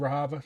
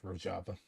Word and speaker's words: Rojava: uh the situation of rava it's uh rojava I'm going to get the pronunciation right I don't speak kranji but I can at least Dain to learn how to pronounce the place um but the situation